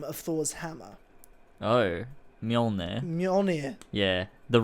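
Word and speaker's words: Mjölnir: Just wondering, how do you pronounce the name of Thor's hammer? Oh, Mjolnir.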